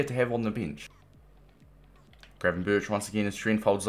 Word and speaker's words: Gravenberch: Either way, that was absolutely class from Gravenberch for run.